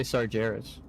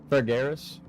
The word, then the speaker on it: Sargeras: I don't know why I say Sargeras. Sargeras is his name. I just grew up my whole life pronouncing it wrong because I never heard a voice actor say it, so.